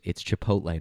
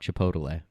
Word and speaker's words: Chipotle: A lot of people are saying it's Chipotle, not Chipotle. They're picking on you. Gail said, but I'm going with Pete's way of saying Chipotle.